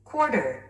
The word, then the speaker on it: quarter: Quarter. Quarter. 스트레스가 맨 앞에 있습니다.